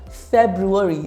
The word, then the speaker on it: February: February repeat after me February the first R is not silent February is the shortest